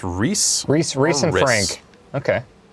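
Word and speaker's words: Rhys: Is that how you pronounce R-H-Y-S? I believe it's Reese.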